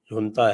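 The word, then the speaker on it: junta: internal जो झगड़ा चल रहा था इनकी जो नता है जेयू एन टीए प्रोनाउंस नता तो यह इनकी जो नता है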